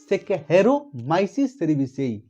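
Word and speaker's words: Saccharomyces cerevisiae: सैकहेरोमाइसिस सेरेविसेई। Pronunciation spelling सैकहेरोमाइसिस सेरेविसेई, यह है baker yeast.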